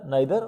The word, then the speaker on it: neither: You can call them either and neither. Both are the correct pronunciations. Okay, one is British and one is American. So either, neither or neither, whatever way you want to pronounce them, you can.